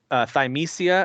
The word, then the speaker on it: Thymesia: Thymesia, I think is how you say it.